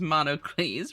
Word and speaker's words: Monocles: Your new name is Monocles, pronounced like Heracles.